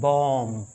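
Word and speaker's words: bomb: कहते हैं होराइजन देखिए बी ओ एम बी इसे माय डियर लर्नर पढ़ते हैं बॉम बम इसमें भी बी का साउंड नहीं होता माय रियल बम बम नहीं बम फिर टी ओ एम बी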